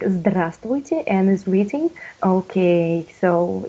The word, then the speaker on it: здравствуйте: No, of course it's hard, but if you will see, like from the slide, we never pronounce, like B in English, we not pronounce. We write it, but we do not pronounce.